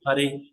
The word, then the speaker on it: Hare: So we are again and again requesting Srimati Radharani, who is known as Hara, or in a pronouncing way we tell as Hare Krishna, Hare, O Srimati Radharani, please engage me in the service of Krishna.